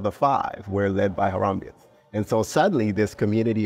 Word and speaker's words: Harambeans: don't want to go go wrong with the pronunciation AR harambe yes it's the it's it's the haramban haramban which derives from Haram Bay which is Swahili